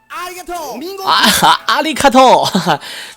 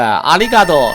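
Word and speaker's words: ありがとう: 阿里卡托，明明就是谢谢呗，阿里嘎多是吧？还阿里卡托，这什么发音？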